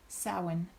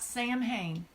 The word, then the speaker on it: Samhain: witches where you've studied you Gaelic sowon sowon absolutely salhan I have occasionally seen that maybe in like a Scottish derivation it might be so mean but anyway it is not Samhain period so what that